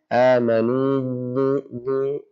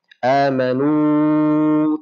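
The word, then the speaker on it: آمنوا: Amanu, berubah suaranya, maka itu salah. Amanu, tidak berubah suaranya, itu benar. Ya, jadi sudah maksimal keluar daripada al-jawf.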